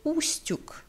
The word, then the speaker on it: Устюг: Кстати, à propos, кстати, да, soit dit en passant, правильное произнесение названия Устюг с ударением на первый слог, c'est donc la prononciation correcte du nom de cette ville, c'est Устюг. On met l'accent sur la première syllabe.